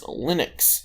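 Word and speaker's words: Lennix: their first daughter and her name is linux not like the operating system colonel her name is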